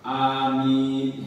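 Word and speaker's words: آمين: Cara baca amin itu ada 3. Jadi yang pertama amin, ya, jadi sama 1. Yang kedua kita baca amin. A-nya 1 kali 2 harakat, B-nya panjang. Amin sudah.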